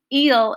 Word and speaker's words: il: want to confuse you eel is is spelled i l all right um and